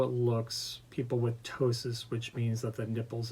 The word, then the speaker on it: ptosis: I mean, I think aesthetically how it looks, people with ptosis, which means that the nipples and breast tissue is hanging low. And that's spelled Ptosis, Yes.